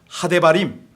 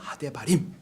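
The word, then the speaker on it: הדברים: 히브리 말로는 하데바림 이렇게 발음을 하거든요. 하데바림.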